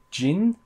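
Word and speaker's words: Ging: that gets me into jin jin king i've been pronouncing his name gang up until now but there was def they were definitely saying je like jin jin a montana shout out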